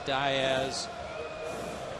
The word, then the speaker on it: Diaz: And complained to Freddie, tell him to go by the right name, the right pronunciation, Diaz. And Freddie said, no, his family's from Spain. They pronounce it differently. It's Diaz.